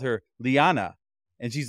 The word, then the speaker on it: Leanna: is lyanna and she introduced herself as lyanna rhymes with banana and I I'm like